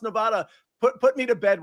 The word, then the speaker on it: Nevada: I always do this I always say Nevada instead of Nevada and I understand that all nans if that's what you call it say Nevada I think you all say it wrong I think it should